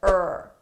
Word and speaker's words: her: We often shorten these so her I get rid of the age sound and it sounds like ur ur.